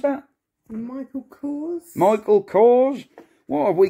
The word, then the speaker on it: Michael Kors: what have we got here Michael Michelle what Michael koros how do you pronounce that Michael Kors Michael Kors what have we got in here